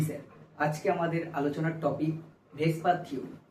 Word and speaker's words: VSEPR: আজকে আমাদের আলোচনার topic ভেসপার theory. Actually VSEPR theory, এটাকে আমরা কেমিস্ট্রি কমিউনিটির লোকেরা উচ্চারণের সুবিধার্থে ভেসপার বলি।